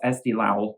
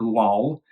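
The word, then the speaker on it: Eesti Laul: try and remember to pronounce Estee Lao like low not lol SD Lau which is the pre-selection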